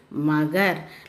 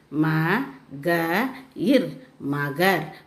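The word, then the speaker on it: मगर: This one is magar. The last letter is ra. So you should say as ir. Ma-ga-ir. Magar.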